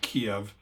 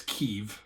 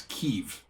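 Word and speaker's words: Kyiv: yeah was um there's a a square in Kiev the capital which actually it's not Kev it's keev which I should highlight for people Ukrainian pronunciation Ukrainian pronunciation and also it's Ukraine not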